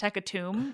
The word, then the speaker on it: hecatomb: Also, I think I realized recently it's pronounced hecatomb, which makes sense because it's tomb, but it just feels wrong.